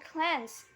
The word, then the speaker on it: cleanse: And cleanse is not pronounced like clean.